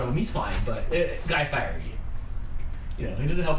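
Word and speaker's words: Guy Fieri: life dr detroit's uh correcting how you pronounce guy firey's name um it's from what were we watching we were watching something and somebody called him guy firey yeah somebody smarter and funnier said guy fire yeah so it's just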